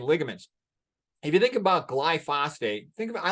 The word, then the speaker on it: glyphosate: Its official name is glyphosate. And I sometimes get viewers who who write me comments, you're not pronouncing it right.